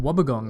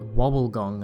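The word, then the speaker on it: wobbegong: of auto correct that it is in fact pronounced wubber gong and not wobble gong as I've been led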